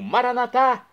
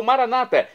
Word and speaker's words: maranatá: E agora do aramaico dialeto de Jesus, eu clamo maranatá, como dizemos nós católicos, ou maranata, como dizem nossos irmãos separados das comunidades evangélicas ou protestantes. Não importa a pronúncia, o significado é o mesmo: vinde, Senhor Jesus.